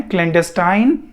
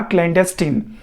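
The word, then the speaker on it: clandestine: इसकी दो प्रोनाउंसिएशन है, क्लैंडेस्टाइन या क्लैंडेस्टीन। दोनों प्रोनाउंसिएशन ठीक है, आप गूगल पर भी चेक कर सकते हैं।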